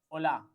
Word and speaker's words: hola: So H will be always silent. I told you one thing, that any word starting with H will be always silent in Spanish. So the pronunciation will be hola and haber.